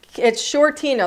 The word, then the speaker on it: Shortino: It's Shortino. That's how you say it. Like the Lake Michigan shoreline.